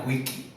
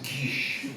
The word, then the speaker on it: quiche: said, "I want a quickie." She poured ice water on my lap. And the guy who was sitting at the table next to me said, "I think you want to pronounce it quiche."